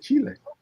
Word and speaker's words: Chile: Only person I've ever heard pronounce Chile the correct way. Oh yeah, Chile.